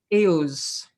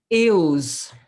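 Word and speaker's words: Eauze: This one here was in, I'm not going to pronounce it right, Euze, E-A-U-Z-E. Very, very attractive. Eels. How, say that again? Eels.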